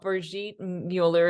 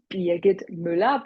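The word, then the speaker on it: Birgit Müller: Thank you for having me invited and my name is correctly pronounced Bit Müller, but all Americans or English friends and colleagues call me Bridget.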